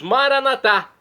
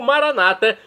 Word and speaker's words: Maranata: aramaico, dialeto de Jesus, Maranatá. Como dizemos nós católicos, com a tônica na última sílaba, ou Maranata, com a tônica na penúltima sílaba, como dizem nossos irmãos separados das comunidades evangélicas ou protestantes.